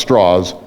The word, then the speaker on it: Strauss: feel like that Lewis Strauss attack on you was more personal political or both yes the question is about L straws spelled Strauss pronounced straws he was the commissioner